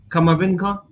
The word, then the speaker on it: Camavinga: how do you see now 18 years old kamavinka have you pronounced it right yeah yeah 18 years old